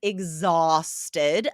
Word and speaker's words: exhausted: So, the first is exhausted. That's spelled with an H, right? And I think you guys are saying this correctly, but you might not be spelling it correctly.